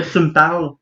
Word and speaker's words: Tu m'parles: Là, tu me parles. Ça s'écrit comme ça se prononce.